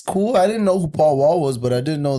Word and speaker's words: Paul Wall: Yeah, Paul Wall. That's how you say it.